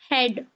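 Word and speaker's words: head: का साउंड आना चाहिए लेकिन ए जो हमारा रूल कह रहा है कि ए हमारा साइलेंट होगा जब कॉम्बिनेशन ए और ए का होगा तब तो इसको क्या पढ़ेंगे हम ब्रेड ब्रेड ड्रेड हेड हेड स्प्रेड स्प्रेड clear जी ए का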